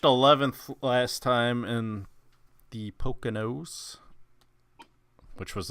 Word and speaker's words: Poconos: I Poconos.